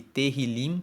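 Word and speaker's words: Tehilim: hebraico no texto original se chama teril se escreve t e h i l i m e teril significa louvores então o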